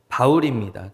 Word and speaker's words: 바울: 이야기를 함께 나누기를 원합니다음 사도 바울은 이름이 사울 있니다 히브리식 발음은 사울 있니다 어 어 그것을 헬라 식으로 발음한 그리스 식으로 발음한 것이 바로 바울입니다 그 바울이 그래서 개명한